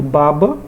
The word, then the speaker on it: baba: a do significado até por exemplo baba não tem acento babá já tem acento observe a babá trabalha e a criança baba só com do assento